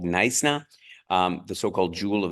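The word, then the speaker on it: Knysna: few nights in called nna you don't pronounce the k it's called nna um the so-called Jewel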